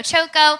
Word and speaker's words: Choco: my name is choco I tell my United States friends my last name rhymes with hot coco I use she her